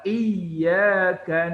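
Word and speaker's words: إياك: kak iyakanabudu tapi Iya Gan Oh budu wa iyyaka nasta'in nih kalau dihilangkan dianya itu bisa merubah dihilangkan masjidnya di atas ya Jadi ia karena budu wa iyyaka nasta'in itu bisa merubah arti sangat jauh bedanya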